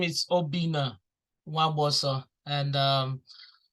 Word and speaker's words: Nwagboso: The NW sounds like a letter, so the N is silent. So it's Nwagboso. So if you get it that close, then that's an A plus for you.